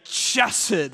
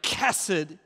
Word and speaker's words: Chesed: Chesed is how you say it, or kesed.